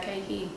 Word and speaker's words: Kayki: Kayki. Like cake, like when you eat cake.